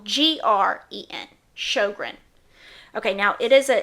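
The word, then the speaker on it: Sjögren's: remember it's a it's a syndrome that's called Sjogren's syndrome now show grins this is another one that's very difficult to pronounce yes now Sjogren's syndrome is not pronounced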